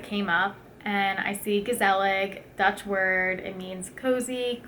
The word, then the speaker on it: Gezellig: It's not even pronounced gezellig to the native Dutch speakers, but I don't speak Dutch, and neither does most people in America. So I just pronounce it phonetically, gezellig.